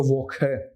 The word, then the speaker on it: Woche: You can also take it up like Woche, but the correct standard German, so when you say Woche, it's not wrong completely. Okay, but the standard pronunciation in German is Woche.